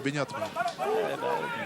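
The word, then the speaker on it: Beñat: Appelez-le Bernard en français. En basque, c'est Benyat.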